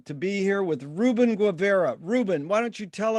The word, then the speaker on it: Guevara: And my last name is pronounced Guevara.